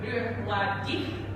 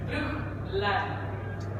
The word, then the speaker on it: Bruichladdich: It's not Bruichladdich, it's Bruichladdich. So you pronounce the first CH, not the second CH.